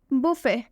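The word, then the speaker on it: buffet: मतलब होता है सीटी एक और एग्जांपल देखिए बुफे बुफे में लास्ट में टी आ रहा है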